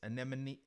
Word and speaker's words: anemone: like they have c i'm i'm going to butcher the name and and them and see anemones anemone see i'm like that fish on finding nemo